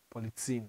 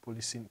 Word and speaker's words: Policine: Polizine, not policine, policine.